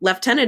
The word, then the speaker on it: Lieutenant: with an f um leftenant is just the British pronunciation of Lieutenant it should be spelled